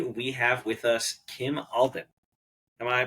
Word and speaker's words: Alban: design and today we have with us Kim Alton am I pronouncing your last name correctly yeah you go